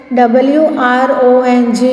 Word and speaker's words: wrong: WRONG, wrong. Here W is silent.